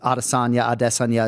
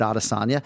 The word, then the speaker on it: Adesanya: We had a conversation with Izzy's parents in a fighter meeting about the pronunciation of their surname, and we sort of agreed collectively to keep it Adesanya. I think I prefaced it by saying Rogan's going to kill me if we go Adesanya right now, but we